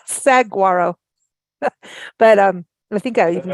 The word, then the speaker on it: saguaro: You sent me aside kindly and said, Lisa, I want you to know it's saguaro. It's not saguaro.